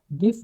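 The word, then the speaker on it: GIF: गिफ, गिफ stand for graphic interchange format and pronounce गिफ, ठीक है, इसको गिफ भी कहते हैं, हम कुछ जिफ भी कहते हैं, ठीक है, तो नॉर्मली इसको गिफ कहते हैं, ठीक है।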